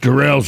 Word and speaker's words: Durrell: Durrell, yes.